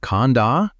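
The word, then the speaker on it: khandha: The Pali word for these 5 categories is khanda. Say it like khanda, and it means heap or aggregate.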